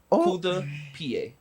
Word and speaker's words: coup de pied: Coup de pied.